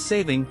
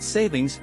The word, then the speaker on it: daylight saving time: the time change and why it's saving not savings as often mispronounced what is Daylight Saving